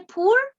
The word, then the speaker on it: poor: Al final dice poor countries, aquí, aquí, ¿se ve? Poor countries, poor. Cuando hay dos O, se pronuncia una U en inglés.